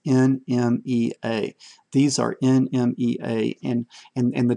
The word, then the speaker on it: NMEA: And I pronounce it NMEA, it's NMEA.